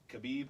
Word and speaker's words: Khabib: Remember, we were saying his name wrong, and people kept writing the comments on Habib? Facebook. You're saying this wrong. Khabib, I haven't Habib.